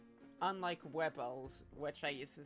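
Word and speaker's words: Wybel: Unlike Wibbles, which I used to say Wibbles, but there's a quest that confirms it's pronounced Wibble.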